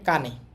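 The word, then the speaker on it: 金: উচ্চারণ কি হবে দেখেন এটা জাপানি উচ্চারণ হবে কানে আর চীনা উচ্চারণ হবে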